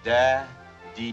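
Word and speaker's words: Dadier: My name is spelled D-A-D-I-E-R. Now, it's pronounced Da D.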